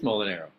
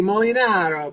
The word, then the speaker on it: Molinaro: mean you can say I always say it rhymes with bow and arrow oh it is mol and arrow yeah mol and arrow